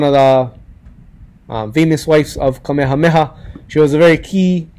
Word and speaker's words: Kamehameha: the first talii is kamehameha it's really important that you pronounce those itches because a lot of times people don't pronounce ages they say kamehameha meha different was